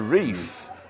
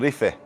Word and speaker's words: Tenerife: Because the reef assumes that you're using the English pronunciation of the island. And it makes sense. Right? So you would actually say, I'm going to the Rife, if you're coming here, Tenerife.